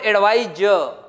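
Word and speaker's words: advise: This is called एडवाइज, this is called एडवाइस।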